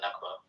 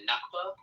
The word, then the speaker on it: Nakba: happened in uh in in Palestine for the Nakba.